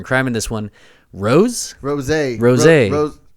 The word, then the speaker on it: Rosé: Yeah, it's got a little accent on the Rosé. E, and it's all capitalized. So I think it's Rosé. We're going to stick with the Rosé in this one. Rosé! I guess. Rhymes with Jose, which is what Justin's